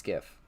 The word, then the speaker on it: GIF: How do you pronounce GIF? It's GIF.